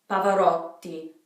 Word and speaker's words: Pavarotti: not the Rho D Pavarotti be careful with that T on there because that isn't double T so this is an